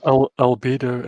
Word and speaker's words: Albedo: There's references to I can't pronounce it. Agido and the white and the black. Right. I'm trying to think. Albedo and Negredo. That's it. Albedo.